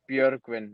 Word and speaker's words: Björgvin: Or is it, do you Yeah, pronounce the J? Bjor. not much. So I would say it's Björgvin.